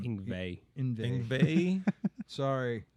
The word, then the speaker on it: Yngwie: Yngwie. Yngwie. Ingve, Sorry. Ingve, Malmsteen, we're going back to those.